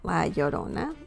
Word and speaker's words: La Llorona: um in latin american folklore la llorona is pronounced well la llorona that means the whipping woman or the whaler